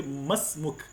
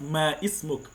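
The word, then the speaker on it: ما اسمك: that what's your name, say masmuk, not ma ismuk. This is the mistake that people used to say. They will say ma ismuk. This one is called hamzat al-wasl. It is not pronounced once it's at the middle of word.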